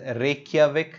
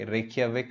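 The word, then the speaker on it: Reykjavík: is not in news often euro Iceland is Reykjavik DJ here is pronounced that why that's in most of the Germanic root all the words where you see in chase is pronounced as why Reykjavik Icelandic króna is the currency okay here are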